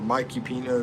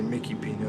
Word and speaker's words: Mikipino: The way I came up with Mickey or Mikey Pino, Mickey Pino, they normally say Mickey Pino here, is making Mike rhyme with Filipino. Mikey Pino, Filipino.